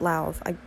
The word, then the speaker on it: Lauv: I pronounce it Lauv.